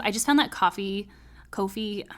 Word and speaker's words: Ko-fi: be opening up my Kofi Kofi coffee I'm sure it's pronounced coffee because it's like oh buy me a coffee but um I'm